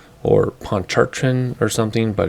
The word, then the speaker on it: Pontchartrain: if it was a ponte thrall or poncharchen or something but everybody seems to say poncher train so that's what we're